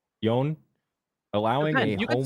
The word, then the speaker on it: Joan: Is it Joan? Yon.